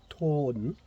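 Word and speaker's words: תם: And in actual fact, that is a bad translation, because the original Hebrew word is pronounced tawn, T-A-W-N, and what that means is that means perfect and upright, a man of integrity and responsibility.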